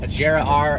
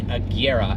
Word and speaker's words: Agera: so even automotive enthusiasts a jira r is not right it is the Kiera and Koenigsegg that is